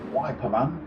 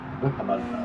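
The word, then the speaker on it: Wippermann: They go through the lookout down towards Seesaw Man or Wiper Man. Whipperman as it's spelled.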